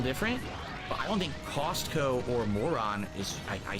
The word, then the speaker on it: Costco: I notice people in the chat joke about how you pronounce Costco as Castco. I say Costco. Always cost.